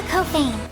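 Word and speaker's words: Couffaine: And before you ask, yes, I did mispronounce Kafan in my Reflector review. Thank you, Olivia. Luka Kofane.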